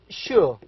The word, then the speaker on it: sure: What he knows is the word sure. Now this word starts with sh. Yes, of course, it is S, an S, letter S, but we pronounce it as sh.